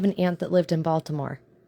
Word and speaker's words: Baltimore: I used to have an aunt that lived in Baltimore. I'm sorry, Balmer. I believe is how they pronounce it, Balmer.